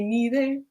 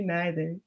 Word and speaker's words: neither: You say neither, I say neither. Neither, either, neither, neither. But what I love about the song is it shows that there's two ways to pronounce these words, first of all.